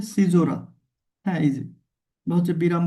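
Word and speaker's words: caesura: এরপরে ধরেন যেটা আছে সেটা হচ্ছে সিজোরা উচ্চারণটা কেমন? উচ্চারণটা হচ্ছে সিজোরা।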